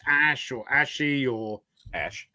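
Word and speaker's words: Ashe: Ash well, his cat's name is spelled A-S-H-E, so I don't know if it's Ash or Ashy or Ash. How do you pronounce it, Jason?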